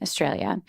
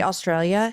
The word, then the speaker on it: Australia: because I laugh now because Americans say Australia Australia Australia and I'm like no they will they say Australia Australia like it's all Australia everything is shortened to